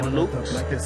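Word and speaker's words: Cailloux: Lukes, that's how you pronounce his last name, he ended up dying in this battle.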